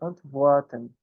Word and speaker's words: antworten: O verbo oposto ao fragen, fragen, perguntar, o verbo responder, antworten. W com som de V, pessoal.